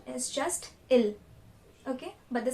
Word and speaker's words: ils: We do not pronounce the S again, so the pronunciation is just ill.